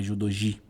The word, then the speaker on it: judogi: portugueses respectivamente ou seja o exemplo judogui né Isso aí não tem muita dúvida não é judogi OK o h é